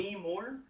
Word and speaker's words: Demi Moore: Demi Moore?